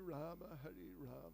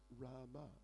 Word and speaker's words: Rama: degree, then, you know, many words which in Sanskrit end with an A, which is pronounced, but in Hindi, in many cases, they drop the A.